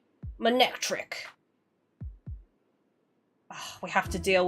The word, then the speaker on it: Manectric: Manectric, there we go, that's how you say it.